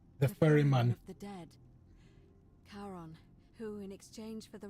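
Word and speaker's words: Charon: figure with a coin you described it your pronunciation is a little off the name you heard wasn't Karen it was c h a r o n as in Caron the ferryman the Dead karon who in exchange for the right coin helps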